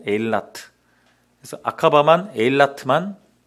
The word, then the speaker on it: 에일라트: 에일랏, 엘란, 뭐 영어식 발음 엘란이라고 하고 에일라트.